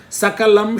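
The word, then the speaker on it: सकलम्: Sakalam Shakalam. Sakalam means entirety. Shakalam means fragment. Sa and Sha, just you change it, the meaning totally changes.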